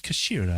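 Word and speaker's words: 頭: that's called the pommel it's written as the head in Japanese but is pronounced as Kashira I believe how would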